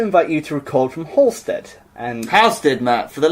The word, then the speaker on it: Halstead: You don't pronounce the L. Halstead. Halstead.